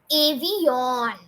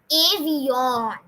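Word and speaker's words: avión: But no, we need to put an accent mark over here to stretch the O. So it would be avion. Because of the accent mark, it would be avion. So when you even pronounce it, so you're going to tell it, speak it as avion.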